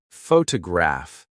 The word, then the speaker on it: photograph: For example, photograph noun is stressed on the first syllable, but photograph I see adjective is stressed on the third.